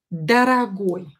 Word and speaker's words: дорогой: Следующее прилагательное and the next adjective is дорогой. Дорогой. Дорогой. Again, ой ending because the stress is here on the last syllable.